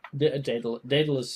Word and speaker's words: Daedalus: Yeah, Daedalus is the proper pronunciation.